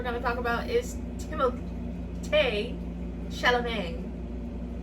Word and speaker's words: Chalamet: The last person that we're gonna talk about is Timothée Chalamet. I think that's how you pronounce it in French. Timothy Chalamet.